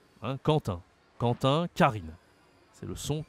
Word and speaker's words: Quentin: Alors ici, c'est Quentin, okay, prénom français très populaire, et on le prononce comme le K, K de Karine. Hein, Quentin, Quentin, Karine.